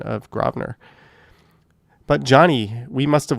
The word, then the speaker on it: Grosvenor: Notice the correct pronunciation of Grosvenor.